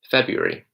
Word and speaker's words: February: yourself say it okay I pronounce this one as February February it's never fair Brewery the are after the B isn't really heavily browser it's February now to really make this